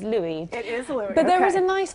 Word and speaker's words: Louis: 18 King Louie's at there's a bit of a confusion over whether we pronounce it Louis or Luis Sojo actually clear that up for you okay it is Louis but there was a